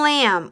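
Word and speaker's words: lamb: we can remember them these two have a silent letter boo in Lam what letter do you not hear correct you do not hear the B what's this one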